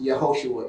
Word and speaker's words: Yehoshua: Hebrew name excuse me Yehoshua which you would know today an English transliteration is Joshua but it's actually pronounced Yehoshua in RNA which is